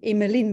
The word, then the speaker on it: Emilian: In Flemish, we pronounce it a little bit differently. It's like Emmeline, but that's no problem at all.